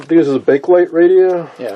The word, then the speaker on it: Bakelite: for the record we do know it is pronounced bakelite bakelite so you've seen me do videos in the